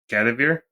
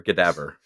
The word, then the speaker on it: Gadaver: Gadavir? Gadavir or Gadaver? It's Gadaver. So take cadaver and change the C to a G, and then change the emphasis to the first syllable, Gadaver, instead of cadaver.